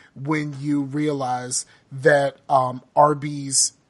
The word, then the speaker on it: Arby's: you realize that um Arby's is pronounced like Arby's which is the initials of roast beef I was today years